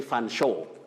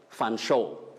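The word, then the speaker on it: Featherstonehaugh: or chomli and then the next one you say fan show fan show then finally fred nakuni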